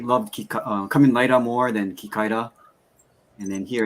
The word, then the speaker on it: Kikaider: That's why it's supposed to be a rider thing. Yeah. And so that's why it's der. But then it's pronounced da, right?